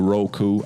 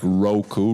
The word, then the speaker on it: Roku: If you are not already downloaded that onto your Roku, I said it correct, Roku, right?